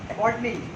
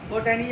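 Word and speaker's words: botany: Zoology और एक बॉटनी। बोटैनी या बॉटनी, बॉटनी बोलते हैं उसको, ये थोड़ा साइलेंट पे बोलता है, बॉटनी।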